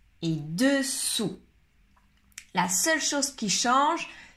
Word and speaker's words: dessous: Alors, dans le deuxième, attention, on prononce OU, comme en castellano. Dessous, dessous.